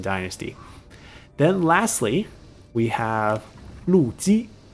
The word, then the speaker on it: Lu Ji: Then lastly, we have Lu Ji. So both L-U, but pronounced slightly different tones on the surname.